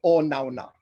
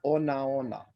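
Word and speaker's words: onaona: I hear a lot of people nowadays say o nauna, but it's not o nauna. The old timers insisted that it was o naona. You give each syllable the same amount of time, but just don't put an okina in front of the, like ona ona. You know, just ona ona.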